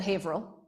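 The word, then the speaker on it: Haverhill: where I am from now hail is spelled Haver Hill but is is said hail just yep hail is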